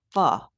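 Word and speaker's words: phở: But it's pronounced you said uh "fa" says Trisha. Not "foe". It's spelled p h o, but it's "fa" or "faw"?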